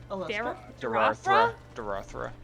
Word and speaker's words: Dorothea: pronounce her name name how did you say it alicia you're wrong dorothea yeah that ah i'm